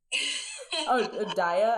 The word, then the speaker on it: Daya: Daya? I guess that's how I say it. Right? It's like Zendaya.